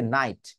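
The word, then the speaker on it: night: টা উচ্চারণ করবো না তার মানে টি উচ্চারণ করতে গিয়েও টি টাকে উচ্চারণ না করাকেই বলা হয় স্টপ টি ওকে তাহলে দেখুন একটু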